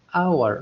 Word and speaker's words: hour: لما نقول أنا أنطقها hour ما نطقتها hour، واضح؟